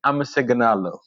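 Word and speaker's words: አመሰግናለሁ: You say amaseganalo.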